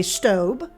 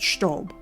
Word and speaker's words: Staub: But here in the States, many people say Staub. But because I was raised by a German mother, I will be pronouncing it Staub.